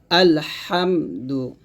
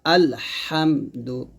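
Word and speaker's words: الحمد: রাজিম বিসমিল্লাহির রাহমানির রাহিম আলহামদু এখানে আমরা যে ভুলটা করি আলহামদু বলি তো এই হার উচ্চারণটা আমরা সঠিক ভাবে উচ্চারণ করতে পারি না যে কোন কারণে আমাদের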